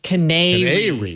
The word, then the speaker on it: Canary: That's a long A. Yeah, they, Canary. Because there's a lot of other companies with that. Canary. A long A is A.